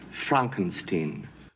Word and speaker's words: Frankenstein: monster and dr frankenstein my name it's pronounced frankenstein and they're both wearing